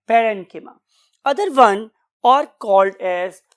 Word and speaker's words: parenchyma: बहुत से और प्रोनाउंसिएशंस भी अवेलेबल है, खासतौर पे हमारे इस कॉन्टिनेंट के पार्ट में, तो बहुत से लोग इसे कोलेनकाइमा भी बोलते हैं, बट the true pronunciation is कोलेनकिमा एंड पेरेनकिमा।